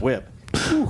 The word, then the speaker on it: whip: Why are you pronouncing the H like that? It's just whip. Whip.